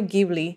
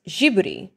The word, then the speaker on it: Ghibli: By the way, I found out it's pronounced Ghibli in Italian, which refers to a hot, dry southerly wind of North Africa. The idea was that this studio would blow a new wind through the anime industry. But in Japanese, it's pronounced Jiburi, Tsutajio Jiburi.